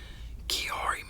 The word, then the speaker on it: Chiari: so but uh yeah so this video is on Yari malformation that's how it's pronounced because I know a